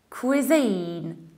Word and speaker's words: cuisine: very very creative however we should say cuisine cuisine so it happens you have queer like in Polish queer oestrus obviou queer not re venya quit cuisine cuisine you stress the second syllable and you have a long e cuisine in the American